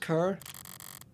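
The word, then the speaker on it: cœur: Allô, mon coeur. It's pronounced cur.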